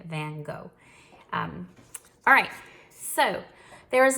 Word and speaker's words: van Gogh: Vincent van Gogh that's how we would say here in America